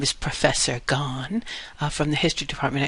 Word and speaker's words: Gaughan: uh as I said my name is Professor gone if you ignore the consonants in the middle you will be pronouncing my name correctly uh and that's me